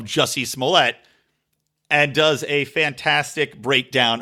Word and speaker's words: Jussie Smollett: he does talk about who he calls Juicy Smollett, and a very McWilliams-esque pronunciation of Jussie Smollett, and does a fantastic